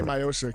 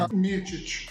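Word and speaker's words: Miočić: You can say Miocic. How do you say it in Croatian? Miocic.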